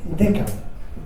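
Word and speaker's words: Deckard: y luego en la película se llama Rick deca y para que veáis la profundidad filosófica de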